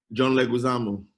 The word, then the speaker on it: Leguizamo: John Leguizamo.